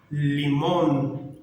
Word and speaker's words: limón: Por exemplo, limón, corazón, caminhón, situación, sempre vão terminar com N de navio e nunca com M de Maria.